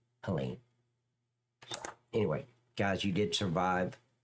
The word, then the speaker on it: Helene: Helina. Helen. Helen. I said it wrong the first time. Helen.